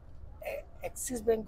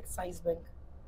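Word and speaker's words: Axis Bank: और एक्सिस बैंक को बोलते हैं एक्साइज बैंक, क्योंकि AXI तो वो अक्षर के प्रोनाउंसिएशन के हिसाब से वर्ड को ले लेते हैं एक्साइज बैंक, जबकि वो एक्सिस बैंक है।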